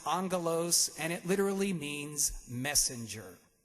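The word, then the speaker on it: ἄγγελος: And so a lot of folks know that the Greek word for angel is pronounced angelos, and it literally means messenger.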